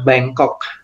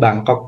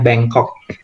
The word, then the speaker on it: Bangkok: Ya, from Australia, Thailand, kemudian Bangkok ya, bacanya Bangkok. Bukan Bangkok, bahasa Inggrisnya Bangkok ya. Bangkok, tapi bukan Bangkok begini ya. Itu Bangkok bahasa Indonesia ya.